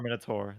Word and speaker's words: Minotaur: Well, is it Now, Minotaur or Minotaur? That's the question usually. Tar. Taur, Tar. Oh, you're missing the U in that, aren't you? Minotaur. Okay, I'll let you have it. It's not tower.